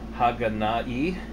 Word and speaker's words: Haganai: I believe it's Haganai, H-A-G-A-N-A-I. I know the I is pronounced E, but we'll just, like I said, the title, I don't have many friends.